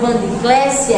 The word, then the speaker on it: Vandiclésia: A sílaba tônica da palavra Vandiclésia é clé.